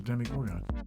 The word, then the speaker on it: Demogorgon: i want jimmy gorgon because that's how it's pronounced demigorg no no it's a demigorgon it's a gorgon right it's a demi gorgon